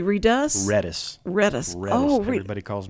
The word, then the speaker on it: Redus: Do they say redus?